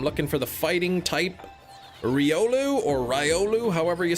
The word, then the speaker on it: Riolu: I'm going to see if it's Riolu or Ryolu. I think it's Ri, but I say Ry, but I typically try to correct myself if I'm saying it wrong. Quilava, Ratata, Reggie Steel, Remorade. It is Riolu. Re. Yeah, it is.